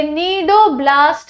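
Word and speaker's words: cnidoblast: नाम है ना ये नीडो ब्लास्ट या नीडो साइड से डिराइवर किया गया है सी साइलेंट है नीडो ब्लास्ट या नीडो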